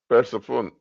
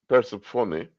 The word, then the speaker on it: Persephone: In ancient Greek mythology and religion, Persephone, um, a classical pronunciation, Persephone, Persephone, also called Kore, or Lady the Maiden, is the daughter of Zeus and Demeter.